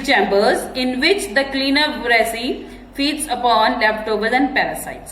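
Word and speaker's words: wrasse: The W is silent in resi. The W is silent.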